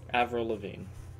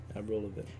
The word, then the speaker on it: Avril Lavigne: How do you pronounce that? Avril Lavigne. Avril Lavigne.